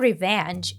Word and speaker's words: revenge: And by the way, Megamind mispronounces the word revenge here. But metals can be melted by the heat of revenge. It's revenge, and it's best served cold.